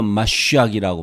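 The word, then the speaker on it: מָשִׁיחַ: 근데 신약에도 재밌는 것은 히브리어 마시악이라고 발음하는데 이것을 음역해가지고 헬라어로 메시아스 이것도 나옵니다.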